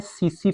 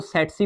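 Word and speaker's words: tsetse: है वो वेक्टर है सीसी फ्लाई। टी साइलेंट है, इसको सेटसी फ्लाई भी पढ़ा जाता है, सीसी फ्लाई।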